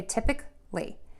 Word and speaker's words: typically: we want to say I'm going to say typic lee typic lee so the the syllable brakes are going to change a little bit so we still have tip at the beginning of both of these words but instead of saying uh we're gonna say ik Tip uh Kl